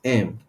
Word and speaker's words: em: so another way of representing font size is m Em which is pronounced it's pronounced M you understand em then